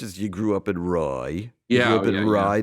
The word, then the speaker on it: Rye: Rye or Roy? And you grew up. What's that? Rye or Roy? Rye. R-Y-E pronounced R-Y-E.